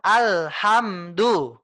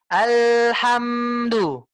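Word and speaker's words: الحمد: nih Bu ada apa setiap sukun kita enggak boleh rem secara mendadak Bu jadinya dia bacanya biarkan dia mengalir bu bukan alhamdu cara membaca bukan alhamdu Bukan tapi alhamdu mengalir Bu alhamdu dia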